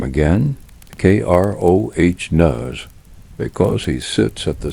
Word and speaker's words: Kronos: Say his name again, Kroh, because he sits at the center of what happens next.